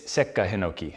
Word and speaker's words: Sekka Hinoki: So it's not Seika Hinoki, it's not Sekka Hinoki, it's Sekka Hinoki. So there's a slight pause there.